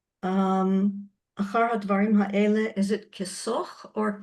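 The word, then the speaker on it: כשך: Achar hadvarim ha'ele, is it kisoch or kishoch? Perek Bet, the Pasuk Aleph. Kashoch.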